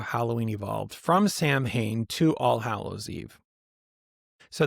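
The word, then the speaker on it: Samhain: ancient Celtic festival of Sam Hayne. pronounced sewing. Just in case you were like, there's too many letters in vowels in that, you can just shorten that to sew in.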